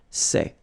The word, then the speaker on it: sais: Here you write it S-A-I-T, okay, but then phonetically these three forms are the same, and it's c'est, okay?